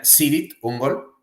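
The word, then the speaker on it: Cirith Ungol: doom épico, Kirit Ungol, aunque ellos, que son estadounidenses, pronuncian Sirit Ungol. Creo que la pronunciación correcta es con K, Kirit Ungol.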